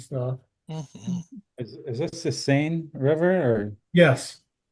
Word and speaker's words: Seine: Is this the Seine River or? Yes, they call it the Seine. I would pronounce it Seine, but the French pronounce it Seine, I guess, is what I was told anyway.